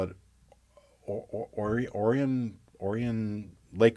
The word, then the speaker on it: Orion: it or or orian orian Lake orian it looks like Orion but they pronounce it orian because you know it's Michigan all right